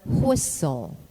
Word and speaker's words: whistle: etc in word spelling the alphabet letter t is silent when preceded by a letter s in the terminations t e n and t l e as in moisin listen grissom bristle or whistle it is silent also